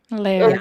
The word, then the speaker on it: Lairg: Lairg.